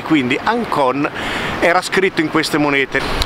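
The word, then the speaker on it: ΑΓΚΩΝ: sa che la gamba e la cappa si pronuncia Inc e quindi Ancon era scritto in queste monete Quindi questa moneta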